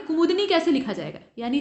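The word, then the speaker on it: कुमुदिनी: तो इसमें जो सही इसका उच्चारण होगा वो कुमुदनी होगा, द पे छोटी की मात्रा होगी। इसके बाद 77 को देख लीजिए, अशुद्ध वाक्य का आपको चयन करना है।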